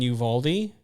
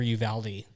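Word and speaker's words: Uvalde: yeah for sure so I've either been in Uvaldi yeah or Uvaldi it really depends depends on who you're talking to so I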